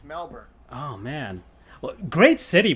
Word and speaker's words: Melbourne: Melbourne. Melbourne. Yeah, Melbourne. Or is it Burn? Is it Burn where you don't pronounce the O? Correct. Really? Melbourne. That's how they Melbourne. pronounce it? It's Melbourne.